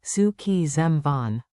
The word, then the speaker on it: szükségem van: Mnemonic Say it like su key zam von.